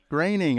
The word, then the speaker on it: Groening: it Matt Groening or Groening? Groening. I just want to make sure I got his name right. He always says his name rhymes with complaining.